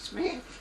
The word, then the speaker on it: Schmidt: Emma, S-C-H-M-I-D-T. Schmidt. Pronounced Smith.